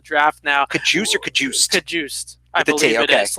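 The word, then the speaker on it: Cajuste: Kajust. I believe it is. Like the guy in Hard Knocks.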